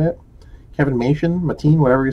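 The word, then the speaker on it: Maitan: Kevin Mateen, right? That's how you say it. Kevin Mation, Mateen, whatever you say his name is.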